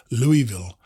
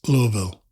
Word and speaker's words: Louisville: maggot when in conversation i ignorantly pronounce the name of the city louisville and he gently but firmly had to inform me that's louisville in his refined southern drawl the other four through hikers